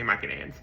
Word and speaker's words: Mycenaeans: So the Mycenaeans, right, or the Mycenaeans, however you want to pronounce it, I say Mycenaeans, were the Greeks before the Greeks, right?